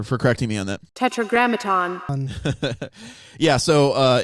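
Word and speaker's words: Tetragrammaton: God of Israel how do you go about pronouncing this word Tetra Graton tetraat Tetra Graton that guy sounds so Jewish thank you sky for for correcting me on that tetragramaton yeah so uh it's tetragramaton what they call God yeah well that so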